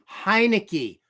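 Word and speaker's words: Heinicke: and overtake Servo Sero it's pronounced hinei not Montana hinei oh I forgot I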